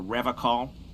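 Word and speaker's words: Revachol: to stay strong for Revol he pronounces Revol with a hard K unlike other people I like to pronounce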